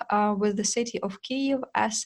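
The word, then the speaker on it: Kyiv: with the city of K as its capital uh in important note to um every Foreigner it is actually correct to say k not Kev uh also when we already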